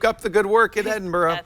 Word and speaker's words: Edinboro: the good work at Edinboro is it even burrow am i saying it wrong Edinburgh Edinburgh like Scotland Dixon or not yeah it's